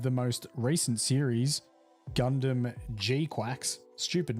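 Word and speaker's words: GQuuuuuuX: I'm sure if you just typed in Gundam GQ, it would it would turn up with something, but it is pronounced Gundam Gquax.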